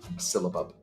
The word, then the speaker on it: syllabub: last one we're doing tonight is called a syllable that's right syllabub silibub is an old timey dessert it used to